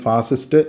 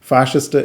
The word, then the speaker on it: ഫാഷിസ്റ്റ്: പലപ്പോഴും മലയാളികൾ ഇതിനെ തെറ്റിച്ച് ഫാസിസം അല്ലെങ്കിൽ ഫാസിസ്റ്റ് എന്നൊക്കെയാണ് പറയുന്നത്. ശരിയായിട്ടുള്ള ഉച്ചാരണം ഫാഷിസം എന്നും ഫാഷിസ്റ്റ് എന്നുമാണ്.